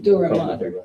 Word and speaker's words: dura mater: I don't know how to pronounce this shit. Yeah. Something Okay, I like think that. it is Dura mater.